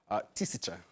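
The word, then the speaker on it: тысяча: Tisicha.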